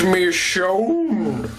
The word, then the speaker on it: Michonne: walking dead and i was writing how to pronounce her name it's me shone much better than me it's me soon soon